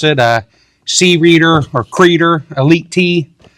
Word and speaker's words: Creader: I've been calling it the C-Reader because Creader to me sounds like a guy with long black hair, a white tank top, with arms wide open.